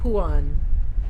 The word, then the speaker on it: Phuan: Puan, Phuan, pronounced Puan.